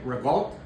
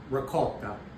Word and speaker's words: ricotta: You do not say well you say some people say revolt which means you're from New Jersey or within